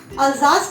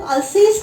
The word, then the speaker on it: Alsace: अल्जास को कुछ लोग अल्सेस भी बोलते हैं, दोनों प्रोनाउंसिएशन ठीक है, अल्सास एंड अल्जेस।